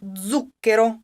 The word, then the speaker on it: zucchero: the accent falls on zucchero on zhu zhu okay bro if you're looking at how many syllables you have you count backwards it will be on the third-to-last same thing with the